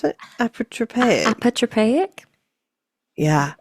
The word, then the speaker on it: Apotropaic: Witches Marks or how do you pronounce it? Apotropaic. Apotropaic? Yeah, Apotropaic marks.